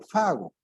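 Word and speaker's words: φάγω: que ustedes ven es en el griego la palabra hago pago no pronunciación fago que debe entenderse como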